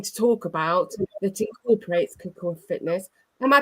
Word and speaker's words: Kukuwa: lot we're going to talk about that incorporates CUA Fitness am I pronouncing correctly yes CUA Fitness correctly yes fantastic brilliant brilliant so welcome